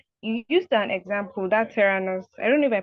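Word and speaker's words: Theranos: and thank you so yes tanos is the pronunciation that's very correct and just as a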